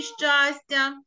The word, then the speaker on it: щастя: а Давайте подумаємо скажемо на який склад падає наголос у слові щастя на перший склад правильно на перший склад